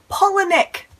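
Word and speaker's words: Palahniuk: say your name right chuck paula nick it really doesn't look like pollinic but i am very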